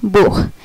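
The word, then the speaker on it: Buch: আচ্ছা, এই যে যেমন আইসিএইচ ইশ, আবার বিইউসিএইচ বুখ, আইসিএইচ ইশ, আবার বিইউসিএইচ বুখ।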